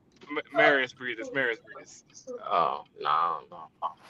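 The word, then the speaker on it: Marius Briedis: No, Nah, Maris Breeders. no, it's Marius Breeders.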